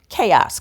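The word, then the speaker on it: Kaos: go watch the series chaos k a oos that's how it's spelled on Netflix and you'll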